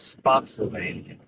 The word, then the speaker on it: Spotsylvania: Spotsylvania? How would you- Spotsylvania. Spotsylvania, that's how you say it? Why would you be saying it's Spotsylvania? It's not Pennsylvania or Transylvania. It's Spotsylvania.